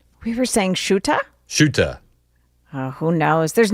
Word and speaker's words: Ceuta: It's Ceuta, right? We were saying Shuta?